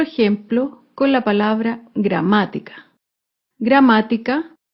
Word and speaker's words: gramática: con la palabra gramática gramática se acentúa en la antepenúltima sílaba gramática otro claro ejemplo es